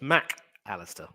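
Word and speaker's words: Mac Allister: Argentina and that's why whenever he writes his name the mac and the Alistar are separated so his name is officially pronounced Mack Alistair I'd also trying to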